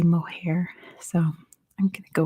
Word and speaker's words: Moher: It's the cliffs of Moher, which many Irish people on my video said I said it wrong. But whenever I try to look up how to pronounce it, at least in American English, it's pronounced the cliffs of Moher. So I'm just going to go with that.